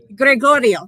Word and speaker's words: Gregorio: I don't know how to say it in Spanish. John, help me. Gregorio, thank you.